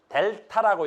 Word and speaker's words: 델타: 이걸 뭐라 읽어? 델타라고 읽어. 읽을 땐 델타.